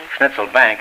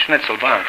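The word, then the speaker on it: Schnitzelbank: pronounced oh pardon me schnitzel bank is a kind of an American uh pronunciation it's schnitzel bankk actually you know what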